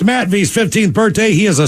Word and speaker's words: Matthew: Today's my youngest son, Matthew, pronounced Matt V's 15th birthday.